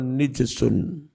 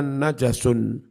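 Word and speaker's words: نجس: ayat Innamal musyrikuna najasun tapi ono sing moco nijsun Q Al jumhur jumhuru membacanya najasun bifathil Jim dengan menfathah Jim hasuna yahs yahsunu Husnan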